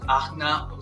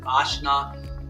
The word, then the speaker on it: Ajna: I was saying some people pronounce it Ajna, some other people call them Ajna. It depends, however you want to say it.